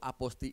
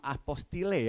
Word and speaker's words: apostille: Nah, inilah di sini adanya tadi namanya aposti. Tulisannya emang apostile ya, tapi dibacanya bukan apostile, bukan apostil, tapi apa? Aposti. Mungkin sudah yang pernah mengurus aposti belum di sini?